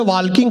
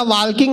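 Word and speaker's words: walking: बोला चलो गार्डन में वाकिंग करेंगे वाकिंग करते करते ल्किंग करेंगे मैंने कहा वाकिंग नहीं वकिंग होता है टकिंग नहीं टॉकिंग होता है इसमें एल साइलेंट आता है फिर मैंने अपना ज्ञान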